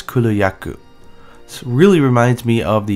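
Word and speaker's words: Kulu-Ya-Ku: cooler yaku cooler yakoo now you want to underline the yeah a little bit here so it's cooler yaku really reminds me of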